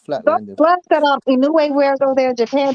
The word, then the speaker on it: Inoue: Those gloves that Inoue, how you pronounce that man's name? That he wears in Japan. Inoue.